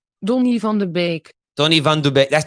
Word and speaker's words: Donny van de Beek: is the dutch pronunciation don't live on the bake tony van der beek that's the dutch pronunciation he's the english pronunciation donnie van der beek see we say beak but the dutch pronunciation listen don't live on